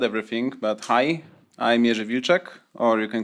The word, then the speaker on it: Wilczek: I guess Mach already said everything, but hi, I'm Vuechek, or you can call me if that's easier for you to pronounce.